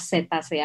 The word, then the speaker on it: cetacea: Jadi cetacea tetap harus ditulis cetacea dalam bahasa Indonesia, tapi membacanya adalah cetacea pakai S. Jadi tulisnya pakai C, mohon maaf, tulisnya pakai C, kemudian membacanya pakai S.